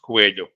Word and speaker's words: Coello: And this is in Spanish. It's pronounced Coelho.